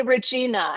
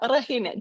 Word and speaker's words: Regina: But you don't say Regina. How do you say your name? Regina. Rahina. Do you like roll the R like that?